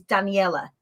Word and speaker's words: Daniella: think things through my my first name is daniella right daniella so it's the italian version of danielle so he's got an extra syllable at the end my surname my maiden